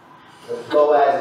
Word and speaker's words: Boaz: sometimes it's spelled booze don't get too excited Boaz is how normally pronouncement spelled and Boaz about Landor and the